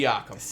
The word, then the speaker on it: Siakam: Siakam.